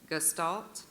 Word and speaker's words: gestalt: Gestalt. Gestalt. Are there any alternate pronunciations? Yes. Gestalt.